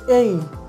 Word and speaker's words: A: রয়েছে এ এই আলফাবেটটা উচ্চারণ করি এ বাট এটার সঠিক উচ্চারণ হবে এই অর্থাৎ এ হর্ষি এই